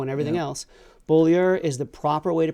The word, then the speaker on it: Beaulieu: name wrong we say Buller you'll hear bolo and everything else bolier is the proper way to pronounce our name it is the way that is pronounced with a Quebec accent from The Plains of